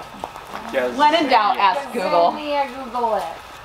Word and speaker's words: Gazania: Gazania, Google it. Gazania.